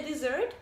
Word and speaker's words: dessert: can also eat a dessert which is something sweet and a noun and it is pronounced exactly like this verb but has two letters